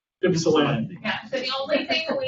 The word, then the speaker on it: Ypsilanti: Yes, yeah, it's pronounced Ypsilanti.